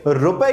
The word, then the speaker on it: ரூ: आपकी स्क्रीन पर दिख रहा होगा, इसकी जगह तमिल लिपि के इस अक्षर का इस्तेमाल करने का फैसला लिया है। यह भी आपको स्क्रीन पर दिख रहा होगा। इसका उच्चारण रू है।